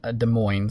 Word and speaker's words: Des Moines: Um, Des Moines uh, Des Moines, sorry, I should say, Iowa. I'm always tempted to say that in a French accent. It's not how it's said.